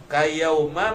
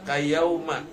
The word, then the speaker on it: kayauma: dari perut ibu ibunya kayauma mabniun alal fathi jangan dibaca kayaum tapi bacanya kayauma ya mabniun alal fathi dimabnikan di atas ya karena idofah kepada fi'il yang mabni.